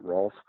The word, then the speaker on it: Rolf: Like English pronunciation, not Ralph, but Rolf.